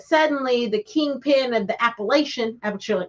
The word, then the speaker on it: Appalachia: the Kingpin of the Appalachian app sorry it's Appalachia Appalachia I got to say it right but this is